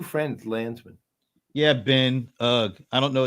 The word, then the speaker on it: Landsman: I'm not a lensman. Is that how you say it? A lensman? No, Landsman, like Landsman either.